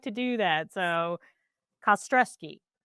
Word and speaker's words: Kostrzewski: Yeah, K-A, the word stress and the word key.